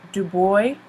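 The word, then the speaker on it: Du Bois: people including w/e be do boy that's how he pronounces it and marcus garvey these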